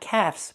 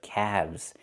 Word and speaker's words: calves: Not calves, but calves. The L is silent, and we pronounce the V sound with vibration, plus the Z sound like zebra. Together, calves.